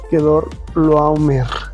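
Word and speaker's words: Quedorlaomer: Que Dorl no no puedo del rey que dor no no puedo realmente pronunciarlo bien por el momento. Quedor loomer.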